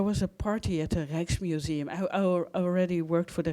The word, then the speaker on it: Rijksmuseum: So 80% of the visitors are foreign, so nobody can pronounce the word Rijks, because that's the sound we have in the Netherlands. It's the sound. It's a combination of the I and the J, and it's only in the Dutch language where it's a sound.